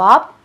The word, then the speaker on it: a: लेकिन 97% प्रोनाउंसिएशन होता है आ। केवल 3% वो प्रोनाउंसिएशन आ से हटकर ए तब हो जाता है जब आपको किसी चीज पर जोर देना होता है।